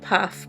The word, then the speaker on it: Pfaff: I think it's just Paff, but P-F-A-F-F. They're not faff with a silent P. oh, maybe Faff. That's more likely.